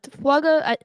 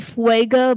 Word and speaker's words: Fuaga: Fuaga, the pronouncing of the last name is really what upsets me. I mean, it used to be Fuega before we really went into the draft. Then it became Fuaga.